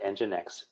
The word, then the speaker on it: nginx: that you um nginx it's spelled n G I and X kind pronounced nginx and G inxa391 IBM